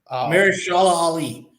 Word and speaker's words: Mahershala Ali: Marsh, Maherchla or ALA Ali. Mahershala Ali.